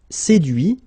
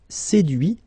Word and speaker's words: séduit: Séduire, séduit. Traduire, traduit. Okay, so the same rule, because, well, basically it's the same group, and then same rule, final T not pronounced, so introduit, produit, réduit, séduit, traduit.